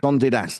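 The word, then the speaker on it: Condé Nast: um which I the name that I can't pronounce cond Nast or whatever it's called cond mate Gondinast. Gondast.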